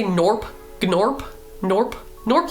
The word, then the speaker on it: Gnorp: I'm going to say Norp. Gnorp. Norp. Norp like gnome. I'm going to say norp like gnome.